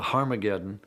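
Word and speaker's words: Ἁρμαγεδών: And indeed, in some of the earliest versions of the New Testament, written in Greek, Armageddon has an aspirant at the beginning, meaning it's pronounced with an H.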